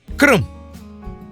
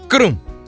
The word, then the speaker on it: krum: And the last example on it is pronounced krum. It is pronounced krum, which means cold in English, tsanyi in Hausa.